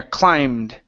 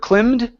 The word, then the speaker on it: climbed: uh yeah right here climbed instead of climed okay long eye sound when they climb to